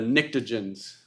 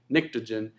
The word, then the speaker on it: pnictogen: What are the pnictogens? What group is that? It starts with a P, but it says, yeah, it's the nitrogen one. So it's PNIC, pnictogen, and it's the nitrogen group.